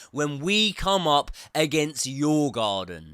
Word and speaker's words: Djurgården: semifinal first leg when we come up against your garden. Not your garden, it's your garden. Your garden. I'm pretty sure that's how it's pronounced.